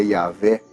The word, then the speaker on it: YHWH: vogais da palavra Adonai Ao tetragrama yhwh que se pronuncia iavé o eu sou eu